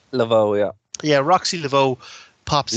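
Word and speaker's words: Laveaux: Roxy Lavo is it is that how it's pronounced Lavo yeah yeah Roxy Lavo pops in and fires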